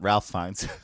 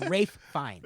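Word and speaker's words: Ralph Fiennes: Is his name not Ralph Fines? It is Ralph, but you actually pronounce it Rafe. Oh, okay. It's Rafe Fines.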